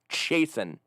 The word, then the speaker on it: Chasen: It's pronounced Chasen. Like you're chasing Scott.